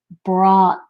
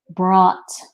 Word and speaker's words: brought: it would be pronounced brought brought brought so this means brought means to bring something it sounds like the word bought the word bot means